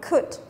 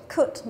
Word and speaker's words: could: Phương án C chúng ta có o u nhưng mà không đọc là ao mà đọc là could, could, đúng không?